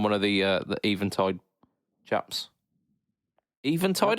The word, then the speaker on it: Eventide: Eventide, I said it. Woo! I said it right.